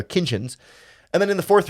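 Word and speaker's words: Kinchens: a safety like Cameron Kinchins, who I always pronounce a T in that word, his last name that isn't actually there, Kinchins.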